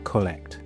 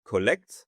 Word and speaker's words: Kolekt: I'm Thierry Sanders, founder of Kwallet, and that is spelled k o l e k t. And the reason why it's spelled that way is because it all started in Bali in Indonesia, and Indonesians can't pronounce the English collect.